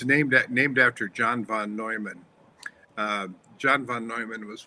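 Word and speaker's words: Neumann: Um so the when I when I created this paper called and it's it's actually pronounced the Noyman engine. It's it's named named after John von Noman.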